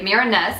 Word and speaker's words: Mirenesse: what I thought was the marinus I think is how you pronounce it it comes in this